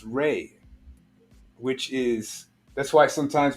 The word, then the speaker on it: Ra: The word Ra also means light, which is pronounced Ray, which is, that's why sometimes when you see Ra, you'll see the R-E instead of R-A.